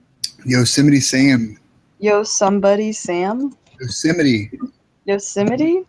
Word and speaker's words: Yosemite: Yosemite. Yosemite? Yosemite Park.